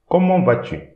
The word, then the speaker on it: comment vas-tu: Don't pronounce the T as well as the S. So, comment vas-tu?